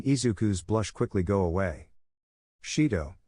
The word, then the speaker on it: Shido: sure shintaro making izuku's blush quickly go away Shido it's Shido Raine oh my mistake Shin Shido